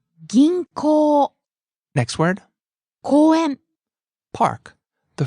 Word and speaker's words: 銀行: There's a long O vowel at the end, so be careful. 銀行。